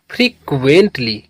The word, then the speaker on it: frequently: तो प्रोनाउंस करेंगे इसे FRE इसे पढ़ते हैं फ्री। क्या पढ़ते हैं? फ्री। QUEN इसको पढ़ते हैं क्वेन। क्या पढ़ते हैं? क्वेन। TLY टी से पढ़ेंगे टा और LY से पढ़ते हैं ली। तो ये हो गया फ्रीक्वेंटली।